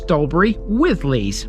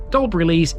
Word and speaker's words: Dalbury Lees: parish in the past such as dobur with Le but today dolber Le is the preferred term dobur is mentioned twice